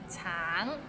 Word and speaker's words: 橙: Tang, it means orange, but some people might find it difficult because the end has a little ng, so it's a bit of nasal sound.